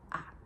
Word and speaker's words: elle: on prononce i puis elle on prononce souvent a salut